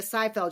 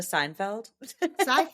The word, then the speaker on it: Seyfried: Amanda Seinfeld? Is it Seinfeld? Isn't it? I did Seyfried. not. Oh, Seyfried. Sorry. Seyfried or Seyfried, actually.